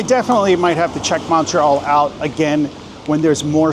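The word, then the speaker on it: Montréal: And you got to say it with that emphasis. Montreal. See, that's what the accent on the e that that's what that means. Montreal.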